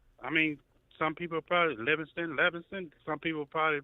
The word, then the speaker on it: Livingston: L-I-V is not Lev. In I don't think any language Livingston would be Leviston. I mean, some people probably Livingston.